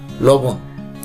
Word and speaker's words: লবণ: সঠিক উচ্চারণ হচ্ছে লবণ, লবণ।